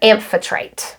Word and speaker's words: Amphitrite: Amphitrite. Okay, I have no idea how to pronounce that.